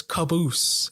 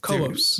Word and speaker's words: Cobos: name make it worse i was caboose instead of co-ops damn so yeah they